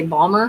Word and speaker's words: Baltimore: It's either, apparently some people say Balmer, which I've never said and never heard it said.